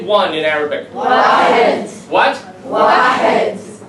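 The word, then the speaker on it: واحد: Wahed. What? Wahed. Wad?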